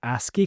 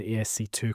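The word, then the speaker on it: ASCII: It's actually it's pronounced ASI code and of course Robert Lleen and Red Dwarf pronounced the ESC2 code but quite embarrassing for everyone.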